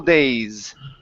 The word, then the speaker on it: days: So this word, you missed the S sound at the end. So this is school days.